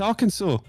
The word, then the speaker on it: Arkansas: Yeah, it's Arkansas. And that's how you That's how you pronounce it.